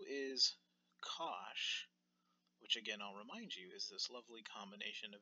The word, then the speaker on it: cosh: event the three most important ones are cinch cosh and tan CH so this first note that's